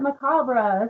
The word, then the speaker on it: Macabre: So Timo Saban actually came up with, hey, let's take your middle name and add Macabre, but call it Macabre. So that's what happened. That's how it is. Macabre is a correct pronunciation.